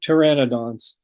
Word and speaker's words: Pteranodon: I've always had a hard time pronouncing these dinosaurs. The Pedosauruses, the flying ones. Oh, they pteranodons.